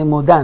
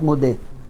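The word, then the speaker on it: Modah: Women should say Moda, not Modeh. Modeh is for men.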